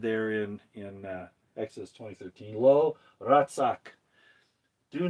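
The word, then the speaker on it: רצח: It's Resh, Zadeh, and Chet. And the way you pronounce it is Ratzak. Ratzak.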